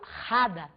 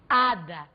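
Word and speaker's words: hada: regra de som e o H em espanhol é mudo ele não é em momento algum velar não eu não falo rada eu falo ada por se tratar de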